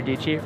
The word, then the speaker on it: Dietschy: Sara Dietschy, rhymes with peachy.